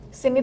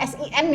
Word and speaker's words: scene: Scene itu adegannya. Tulisan scene itu bukan SIN ya, tapi apa? SCENE, bacanya juga scene, betul. Scene nanti takutnya artinya dosa.